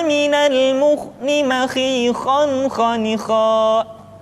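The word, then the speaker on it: خ: Kesalahan berikutnya pada huruf kha adalah suara yang tidak menebal. Padahal huruf kha memiliki sifat al-isti'la. Ada sebuah kaidah, kulul musta'la al-mufakhmah. Semua huruf yang memiliki sifat al-isti'la mesti diucapkan dengan suara yang tebal. Perhatikan, diucapkan dengan suara yang tebal. Bauh, tidak bah, tapi bauh. Aukha, tidak akha. Kha, khi, khu, bauh, tidak kha, khi, khu, bah, tapi bauh, menebal suaranya.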